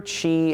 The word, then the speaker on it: Qi: main theories behind traditional Chinese medicine, if your Qi is flowing, this is traditionally how it's said,